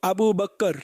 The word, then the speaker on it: আবু বকর: তো মূল উচ্চারণ হলো, আবু বকর, আবু বক্কর। এটা মুখস্ত করে নিন আবু বকর।